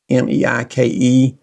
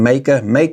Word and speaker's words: Meike: That is it's pronounced a little bit odd, Meike. I think that's the correct pronunciation. Meike, I think is what it's called.